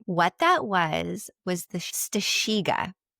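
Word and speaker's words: strzyga: What that was was the stasha. Very good. It's spelled not like that cuz guys it's not spelled stasha.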